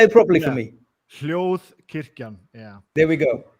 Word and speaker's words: Hljóðkirkjan: Hljóðkirkjan, yeah. There we go. Hljóðkirkjan.